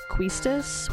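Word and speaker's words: Quistis: read their blog said they think that questus should be pronounced cuistus which i've also heard quite a bit but i just always thought quistus sounded better so i'm just gonna continue to say that okay leave it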